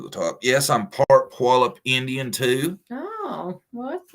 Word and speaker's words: Puyallup: See, and I say it right too. A lot of people would be like, "Poo y'all up." Puyallup is how I was taught.